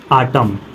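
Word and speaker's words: autumn: एन एक साथ आया इसमें क्या है आपका एन शब्द साइलेंट है जैसे देखो आटम column dam hymn next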